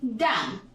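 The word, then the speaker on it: dumb: नहीं बोलेंगे या फिर डम हमने कहा डम ये डम है एंड साइलेंट है डम की हिंदी होती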